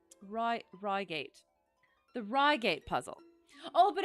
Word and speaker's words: Reigate: about yeah accents yeah Roy gate man right but then I feel like should I should I do it rygate and I'll just really really try not to slip into my terrible British accent the queen said so herself she did okay I will I'll go I'll go with rygate rygate the rygate puzzle